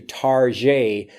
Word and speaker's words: Target: so we're going to tarjay tarjay ta rget but it sounds more of like a French pronunciation to give it a